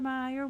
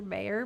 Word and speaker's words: Oscar Mayer: like ew so yeah it's mayor Oscar Mayer but I guess they say Meer a they just pronounce it Meers yes it's definitely a